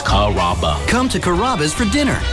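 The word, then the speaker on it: Carrabba's: Chom it up pretty good you know Kaba kababa Kura it's a really easy name to pronounce it's karaba come to kabas for dinner enjoy chicken marsala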